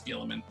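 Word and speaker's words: Guilliman: I think that's kind of like half the joke, but I'm 99.9% sure it's Gilliman.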